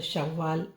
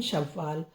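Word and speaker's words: شوال: महीना है रमजान फिर शव्वाल फिर ईद का महीना उसको बोलते हैं शव्वाल शीन वाव श वा अलिफ वा लाम शव्वाल शवा शव आधा वा है वा पूरा फिर का डंडा ला शव्वाल कद अब ये ईद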